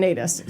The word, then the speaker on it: Nataas: like pronounce it different ways, but we're going Nadas.